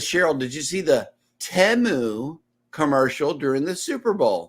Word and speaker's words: Temu: I'm like did you hear the way they're pronouncing this place it's not teu it's temu so yeah I know that was crazy listen